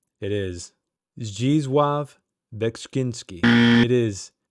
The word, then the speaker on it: Zdzisław Beksiński: He is a Polish artist, and it's very difficult to pronounce his name. It is Zdzisław Beksiński. It is Zdzisław Beksiński.